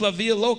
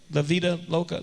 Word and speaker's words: La Vida Loca: Before now, we just live like there are no germs and just Live La Via Loca. Did I say it right? La Via Loca. La Via Loca. La Vida Loca.